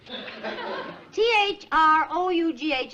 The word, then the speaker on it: through: day's work was throughout t-h-r-o-u-g-h is pronounced through through that's what i